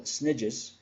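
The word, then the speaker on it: SNIJ: units, what I call snidges, there's no relation to Harry Potter, by the way, and the famous snitch, okay? A snidge is simply my way of pronouncing S-N-I-J, subnational island jurisdiction.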